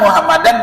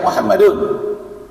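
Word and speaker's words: مُحَمَّدًا: Ashadu alla ilahaillallah wa asyhadu anna muhammadan. Bacanya Muhammadan Rasulullah. Gak boleh baca Muhammadun. Muhammadan. Asyhaduillallah. Illallah wa asyhadu anna muhammadar rasulullah. Kenapa bacanya Muhammadan? Karena ada anna di belakangnya.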